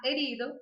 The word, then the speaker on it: herido: Está herido, o H a gente nunca pronuncia.